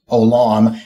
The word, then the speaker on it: Olam: as Olam El, and Olam means everlasting, and that's just pronounced Olam.